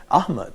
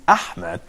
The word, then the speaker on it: Ahmed: I write my name, it starts with A followed by H, and then that's why people, especially those who are speaking English language, say my name is Ahmed, and I tried more than one time actually to correct them phonetically, telling them, please, well, my name is Ahmed, so I have to distinguish here between H and Ha, and I agree with